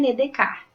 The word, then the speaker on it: Descartes: sobre a ética em redecar nome dele se escreve Descartes mas não se lê Descartes porque não é uma palavra em português que você tem que ler como praticamente Como escreve tá então a gente